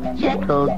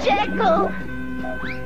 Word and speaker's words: Jekyll: First word. Quack, quack, quack, quack. Duck. Second word. First syllable. Jack, jack. Second syllable. Sick. Ill? Ill. Duck, Jack, ill. Duck, Jekyll, Duck, Jekyll, Dr. Jekyll! Oh, yes, that's me.